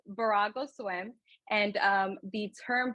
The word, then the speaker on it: Virago: that I get asked is how do you pronounce it and what does it mean so it's barago swim and um the term Bravo actually signifies